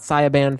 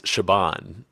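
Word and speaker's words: Siobhan: So, it's not it's not Saban Fallon. No, it's not Siaban. It's Shabban.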